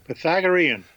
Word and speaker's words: Pythagorean: Pythagorean.